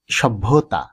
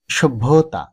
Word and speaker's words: সভ্যতা: এরপরে যে শব্দটি এখানে রয়েছে আমরা অনেকেই উচ্চারণ করি সভ্যতা, কিন্তু এর শুদ্ধ উচ্চারণ হবে সভ্যতা, সভ্যতা নয়।